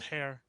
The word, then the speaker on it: Heir: last name I pronounced hair okay yeah even though it's SP like air it's pronounced hair I yeah no worries